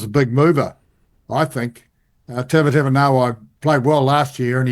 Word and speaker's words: Tavatavanawai: Tavatavanawai, is that how you pronounce it? Yes, that's Tavatavanawai.